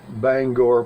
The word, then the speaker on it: Bangor: Maine in the summer by the way you pronounce Bangor correctly if you visit my state of Maine